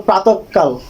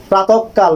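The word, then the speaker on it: প্রাতঃকাল: এটা প্রাতকাল বলবো না এটাকে আমরা আমরা বলবো প্রাতকাল প্রাতকাল এই যে ক এর উচ্চারণটা ডাবল হয়েছে দ্বৈত হয়েছে এরপরে দেখুন এই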